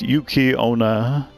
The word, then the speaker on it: Yuki-onna: Pronounced Yuki-onna, yokai woman enveloped in a haze of icy cold air, also treated as incarnations of snow.